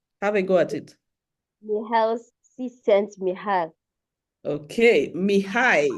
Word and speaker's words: Csikszentmihalyi: Mihail Csikszentmihalyi. Okay, Mihai. You'd see that there's no L. I'm not pronouncing any L, right?